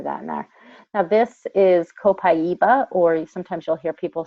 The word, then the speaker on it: copaiba: skincare I'm happy that Mac now this is copaiba or sometimes you'll hear people say cabeza but it's meant actually properly pronounced copaiba now this is actually taken from the resin